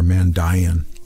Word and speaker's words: Mandaean: This is from the Mandaean scriptures, or Mandaean scriptures, to be more precise in the pronunciation of their name.